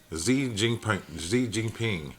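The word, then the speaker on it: 习近平: I thought this was Roman numerals. It's Xi Jinping.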